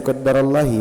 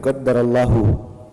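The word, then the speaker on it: قدّر اللهُ: Nah, kalau qaddarallah bukan bacanya qaddarallahi bukan tapi qaddarallahu. Kalau kita baca pakai kata qaddarah berarti allahnya harus di baca domah allahu.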